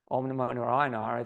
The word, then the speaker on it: Om Namo Narayanaya: Om Namo Narayanaya is an 8-syllable mantra. Om Namo Narayanaya. And when you pronounce that mantra, you should hit all those syllables because they have an impact on the mamas and the chakras in your body.